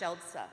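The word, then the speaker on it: Siedlce: is shell it's pronounced shelter it's s-i-e-d-l-c-e but pronounced shelsa and that's where I was in the country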